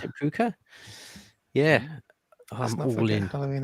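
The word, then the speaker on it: púca: Is it for the puka? Is that how you pronounce it? Puka? Yeah. I'm all in. Halloween is an Irish pagan festival. Puka is ghost in Irish.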